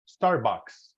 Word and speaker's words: Starbucks: that better that's better so this is pronounced Starbucks no book or anything Starbucks so repeat Starbucks yeah